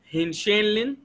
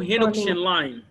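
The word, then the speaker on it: Henoch–Schönlein: طيب هي ممكن تنطقها كالآتي: هنشينلين أو هينوكشينلاين. كلمة يبدو إنها ألمانية ولا المهم. هينشينلين أو هينوكشينلاين بيربرا، لكن نحن نمشي بالقاعدة الفقهية أو القاعدة النحوية أعجمي فلعب به، صح؟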